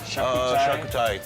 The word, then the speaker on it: charcuterie: How do you pronounce that one? Uh, charcuterie.